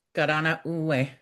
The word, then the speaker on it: Karenna'onwe: Just pronounced Yeah, it's pronounced gana. Garana.